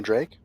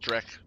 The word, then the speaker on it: Drake: But you said I can bring a Drake? That's pronounced Drek.